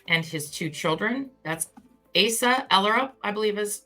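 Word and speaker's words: Asa Ellerup: his two children that's ASA erup I believe is how her name was is her name is Asa erup I believe is how her name is pronounced and it's actually been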